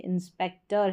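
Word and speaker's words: inspector: तो यहाँ पर देखिए इंस्पेक्टर है, इसको टर पढ़ा ना कि टोर।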